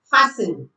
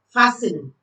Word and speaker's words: fasten: No, the T is silent. You don't pronounce the T. So it becomes castle, listen, whistle, fasten.